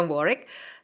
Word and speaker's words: Warwick: tulisannya Warwick, bacanya Warwick, di Inggris.